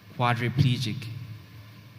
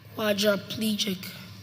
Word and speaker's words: quadriplegic: word again quadriplegic quadriplegic quadriplegic quadraplegic no quadriplegic quadriplegic yes quadriplegic q